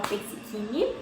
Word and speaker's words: Persichini: Se você não me conhece, muito prazer, meu nome é Persichini, que se escreve Persicini e fala Persichini.